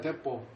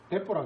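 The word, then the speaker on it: depot: 그 다음에 ICD 인랜드 컨테이너 데포. 디포라고. 데포라 그래요? 데포. 실무자들은 데포. 우리는 그냥 저는 좀 그건 모르겠고 그냥 디포라고 읽어요.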